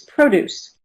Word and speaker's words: produce: And in this case, it's pro produce.